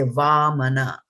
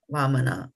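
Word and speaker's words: वामन: Some people will translate it like this, which means that this is a heavy A and this is just a soft A. So now when you look at it, you'll say Vamana, Vamana, okay?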